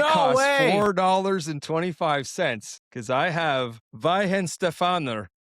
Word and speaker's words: Weihenstephaner: So this is I actually got the pronunciation. I actually looked it up. It's called Weihenstephaner, and it's been brewed since 1040 AD.